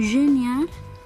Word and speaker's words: génial: Bon, le premier est génial masculin, génial féminin. C'est la même prononciation.